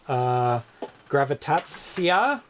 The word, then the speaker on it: Grawitacja: Took, so it is pronounced Gravitatsia, means gravitation.